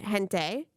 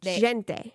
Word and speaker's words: gente: Sorry, in Spanish they say it gente. But in Portuguese, they say it gente. Gente. They pronounce the G.